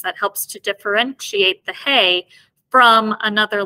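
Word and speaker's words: ה: Then we have the Hey as well. This is pronounced like our H sound.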